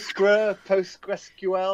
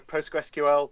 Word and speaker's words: Postgres: But I always go Postgres. Some people go PostgreSQL, but it's too long. Postgres. Too many syllables.